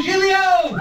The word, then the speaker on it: Giglio: took me two years but now I can pronounce his name it's true he's Lou jilio thanks Matt thanks everyone before me and everyone